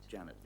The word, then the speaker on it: Jeanette: And I know it's spelled Jeanette, but you like to pronounce it That's right. Janet.